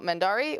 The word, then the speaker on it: Mendarii: You can find me also here on Twitch underneath the handle Mendari, which is spelled Mendarii, or underneath the name on places I don't know.